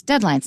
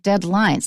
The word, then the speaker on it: deadlines: me out is deadlines listen to the stress it's deadlines not deadlines messes the teacher but